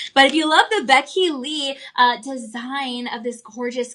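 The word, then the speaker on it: Bekily: It's pronounced Becky Lee. Becky Lee, kind of like a name like Becky and then the middle name Lee, but it's spelled different, but it is pronounced Becky Lee.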